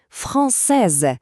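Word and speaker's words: française: Чоловічий рід Фонсе. Кінцевий звук се тут ніби спить. Він німий. А тепер ми додаємо е. І він прокидається. Фонсез. Чуєте? З'явився чіткий звук з.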